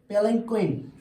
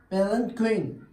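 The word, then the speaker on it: palanquin: तो उस डोली को कहते हैं पेलनक्विन। क्या कहते हैं? पेलनक्विन। क्या कहते हैं? पेलनक्विन। PALAN पेलन QUIN पेलनक्विन।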